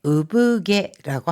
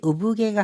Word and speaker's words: 産毛: 으브게라고 합니다. 赤ちゃんの額に柔らかい産毛が生えています。 자, 이 산이라고 하는 나을산자를 우부라고 읽었잖아요. 그래서 아카찬노 히다이니 아기 이마에 야와라카이 우부게가 하에데이마스.